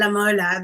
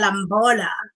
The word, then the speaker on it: Lamola: I mean, you can't quite see it, but basically they mispronounce my name to, like, instead of saying Anelisa Lamola, they say Anelisa Lamola.